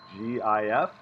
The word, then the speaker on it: GIF: make this a gif gif pronounced as in peanut butter jif that doesn't sound right but it is and you get to